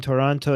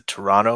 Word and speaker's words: Toronto: is telling you that the second T in Toronto is silent please correct or leave the city yeah this is one of those weird things where people say there's a Toronto or Toronto and people in the